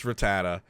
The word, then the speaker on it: Rattata: wait we have to we have to decide on a pronunciation first because you're making me second guess R rata rata Rattata that's got to be correct yes it's Rattata but uh I'm putting